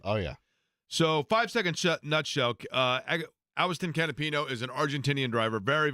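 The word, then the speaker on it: Agustín Canapino: So once upon a time in IndyCar racing, there was a driver named actually it's pronounced Awiston Canapino, still with Juncos Hollinger Racing.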